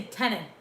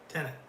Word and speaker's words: Tenet: I did say tenant. Tenant. Tenet.